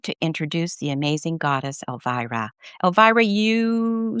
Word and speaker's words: Elvira: And so, without further ado, I am honored to introduce the amazing goddess Elvira.